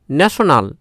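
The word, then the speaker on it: national: তো দেখো কোনো ওয়ার্ডে যদি TION থাকে তাহলে এর উচ্চারণ হবে শন, তালেবস্য দন্তন্য শন, বোঝা গেল। যেমন দেখো অ্যাকশন, কশন, অ্যাডিশন, ন্যাশনাল।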